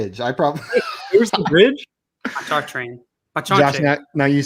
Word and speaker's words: Pontchartrain: In North Louisiana, we pronounce it Pontchartrain. Pontchartrain. That sounds delicious. It does sound delicious. Ooh, No. Give me a plate of that Pontantra.